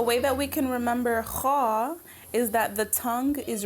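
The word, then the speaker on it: خاء: Kha is a heavy letter. So it's a letter that when you pronounce it, you have to make a round mouth rather than a smiley face. Kha, right? As opposed to kha, you would maybe your mouth would be a little wider. Kha is pronounced with a round mouth.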